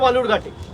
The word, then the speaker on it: বালুরঘাট: আরে আপনি যেখান থেকে লড়ছেন তার নাম ভুল উচ্চারণ করছে, বিকৃত করে বালুরঘাটকে বেলুরঘাট বলছে। আপনি গিয়ে বলতে পারেন না যে অমিতজি এটা বেলুরঘাট নয়, এটা বালুরঘাট, চাকরি চলে যাবে।